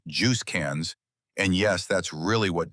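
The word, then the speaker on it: JUSCANZ: There's just CANs, pronounced Juice CANs, and yes, that's really what diplomats call it.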